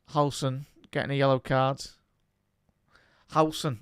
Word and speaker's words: Howson: Howson, that's how you properly say it, chat.